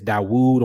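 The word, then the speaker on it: داود: And see, this is why in English it says Dawood on the right, DWD, because in Arabic, David is Dawood, because in Hebrew, the V and the W are the same letter.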